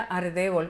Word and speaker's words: Aldebol: es que uno dice, mi Aldebol no era Aldebol, era Ardebol, pero en Puerto Rico pronunciamos mucho la R como una L, así que se llama Aldebol.